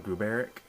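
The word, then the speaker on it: Gruberik: I pronounce this town Gruberic.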